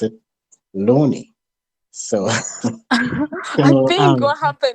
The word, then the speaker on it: Loani: to hear it from herself, the way she pronounced it, Loani.